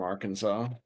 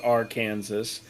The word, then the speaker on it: Arkansas: You know the Clintons are from Arkansas. Yeah, I do know that. No, it is not pronounced R Kansas.